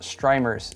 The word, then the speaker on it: Strimer: of like leanne lee's strimers s-t-r-i-m-e-r and then they try to be like that's pronounced streamer and i'm like no it's it's strimmer or strimer at best it doesn't really matter